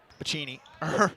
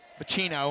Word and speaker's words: Pacino: Packing it over to Pacini. Said it wrong. Said it wrong. I always surprise myself a little bit. Pacino, I should say.